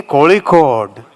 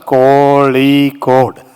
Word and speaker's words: Kozhikode: Say Kozhikode. You only taught me Kozhikode. Why say Calicut? I was always asking what is the right pronunciation. So Muralidharanji told me it has to be pronounced Kozhikode. Not Calicut.